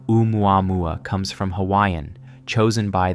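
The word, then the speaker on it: ʻOumuamua: The word begins with an oina, not an apostrophe, representing a glottle stop in Hawaiian pronunciation.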